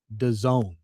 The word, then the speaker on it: DAZN: Unfortunately, the company would rather you call it Done. Come on now. That's That's what they go with. D A ZN is pronounced.